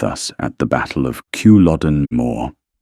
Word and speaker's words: Culloden: their way with us at the Battle of Kewlodden Moor — 5 [Culloden: kuh-LOD-en | Moor: rhymes with "more"] they had to dash our spirits